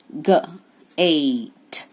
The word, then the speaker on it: gate: Gate, gate. E is silent and E gives power to A.